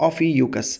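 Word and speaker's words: Ophiuchus: حامل الثعبان حامل الثعبان حامل الثعبان ده اسمه النطق بتاعه اوفي يوكس طيب من فين بقى نجيب كلمه الحين في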